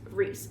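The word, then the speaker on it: Rhys: was saying Reese or I was saying rice and then but it's Reese so and these books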